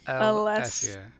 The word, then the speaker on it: Alessia: Alessia. Alessia. Not Let's Alicia.